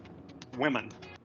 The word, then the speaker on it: women: Women. El plural es women, women, ambas con una I, women.